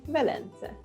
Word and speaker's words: Velence: Which in French is Venise, with a Z sound, spelled with an S. In Hungarian, we say Velence.